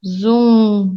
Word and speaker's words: Zoom: Pelo Zoom, Zoom. There's a U sound there and a little nasal N sound.